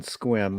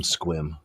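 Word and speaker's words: Sequim: had to go around saying oh I'm from squim well and it's spelled sequum but pronounced squim yeah I remember as a kid in grade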